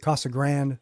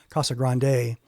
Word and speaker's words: Casa Grande: that our folks know some people pronounce it cost a grand or as he said I think it's probably more correct Casa Grande there's an e on the end of that and if if I